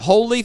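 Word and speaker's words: Holi: my first one uh I think you pronounce it holy Festival in India uh it's h o l i holy hola yeah any is that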